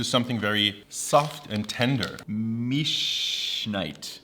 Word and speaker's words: Milchschnitte: -"Mish...nite" -Yes, that's exactly how you pronounce it. That's more like "Milchschnitte". But yeah! You were close!